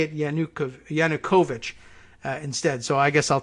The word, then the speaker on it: Yanukovych: or that we in English are meant to pronounce it as Yanukovych, as opposed to Yanukovych, which is the pronunciation I was giving it. So Yanukovych, I guess, sounds like the people who know